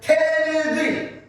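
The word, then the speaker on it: 手ぬぐい: Especially Japanese people, excellent pronunciation. In English, we call this a fan. In Japanese, we call this tenugi.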